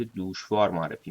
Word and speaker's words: دشواری: لغت‌نامه دهخدا تلفظ کلمه دشواری را در پهلوی به صورت دوشواری می‌کند در اشعار ویس و